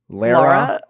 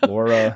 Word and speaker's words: Laura: I think it's Lara. Lara. Laura. But it's not Laura because I'm from the south and it's not like Lara. So it's somewhere in between.